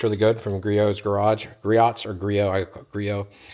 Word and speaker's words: Griot: Griot. I assume that the T is silent, but what do I know?